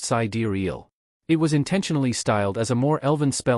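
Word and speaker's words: Sideræl: The final portion of the name, Sidural, carried its own layers of meaning and was pronounced sidariel.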